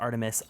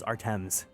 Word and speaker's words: ARTMS: by Artemis I I recently learned that it's pronounced Artemis I swear to God I thought it was artms love red velvet I feel like I haven't